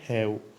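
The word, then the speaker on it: half: अब तीसरा जो शब्द है दोस्तों, वो है हैव। दोस्तों, इसमें एल साइलेंट है और ये वर्ब है।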